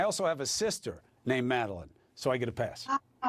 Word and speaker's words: Madeleine: My name is Madeleine, and I try to help people. It rhymes with Dean, Madeleine Dean. But I'll answer to Madeline.